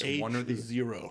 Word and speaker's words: H0: Okay, so from our friends at HYT comes the HYT-HO or H0. That is how it's pronounced, folks. H0.